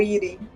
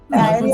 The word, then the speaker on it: Iri: Ou Iri. Que... Airi é pronúncia em inglês, né, amigo? Airi, né? É Iri.